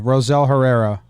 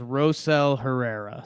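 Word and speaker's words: Rosell Herrera: that's how it's phonetically that's how it's pronounced phonetically with American English accent yeah baseball-reference has it as Roselle Herrera so Roselle you know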